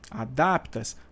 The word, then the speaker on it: adapta: Adapto, adaptas, adapta, adaptam. Então, realmente, a vogal tônica é o A, tá? O A da sílaba DAP está dentro do radical.